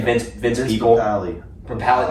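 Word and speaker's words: Papale: Papali. Palette, not people. It's spelled like people though, isn't it?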